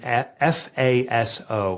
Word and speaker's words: FASO: so it's an acronym Faso Faso kind of rhymes with lasso and there's four elements